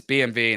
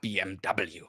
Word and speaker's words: BMW: where it comes from it's BMV not BMW the same is the